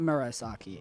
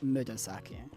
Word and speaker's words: Murasaki: And it looks like Murasaki. It is not Murasaki. It is Murasaki.